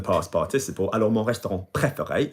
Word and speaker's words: préféré: participle, alors mon restaurant préféré, you'll see that there are 3 bloody acutes. Préféré.